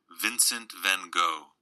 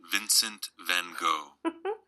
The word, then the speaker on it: Vincent van Gogh: It will give you the pronunciation. There's like little recordings in here. Where'd our friend go? Here we go. Vincent van Gogh. Isn't that lovely? Vincent van Gogh.